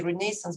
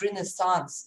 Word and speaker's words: Renaissance: I just like to say Renaissance, but Renaissance is also a good word. So you understand that two pronunciations are possible.